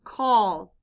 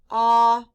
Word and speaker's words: call: The letter A stands for the sound aw. Blend with me. K-aw-l. Call.